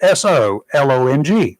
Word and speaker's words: Solong: The cargo ship, I'm going to pronounce it like it's written. Y'all figure out if that's what they meant. It's spelled SOLONG, one word. So long. So long.